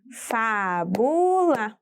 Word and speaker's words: fábula: Fábula. Olha só, fábula é trissílaba. Ela tem 3 sílabas. Aqui também podemos identificar facilmente a sílaba tônica. Afinal, eu tenho um acento agudo na sílaba fá.